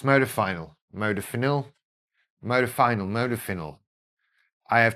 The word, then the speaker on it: modafinil: So I eventually moved on to and there is great debate over how to say this. I say modafinil, modafinil, modafinil. I don't, but that's what it is. It's modafinil, modafinil, modafinil, modafinil.